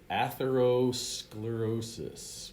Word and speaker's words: atherosclerosis: Okay, so this word is pronounced atherosclerosis, which is fatty plaque deposits that eventually clog the arteries.